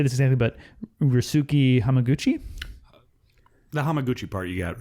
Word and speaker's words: Ryusuke Hamaguchi: But this is directed by, I don't know how to say this exactly, but Ryusuke Hamaguchi.